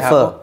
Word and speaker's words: pho: Tulisannya PHO tapi aja pho? Iya, bacanya pho.